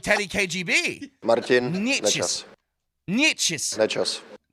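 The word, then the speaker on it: Nečas: Marty Nachos, Nechas, or as Bednar says, Nekash. Yeah. Well, here's straight from the source. Martin Nechas. Martin Nechas. So it's sort of a combo of what we do and what Bednar does, right?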